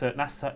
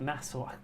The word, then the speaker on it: Nassau: Uh the Nassau stakes NASA Nassau. What is wrong with my pronunciations today?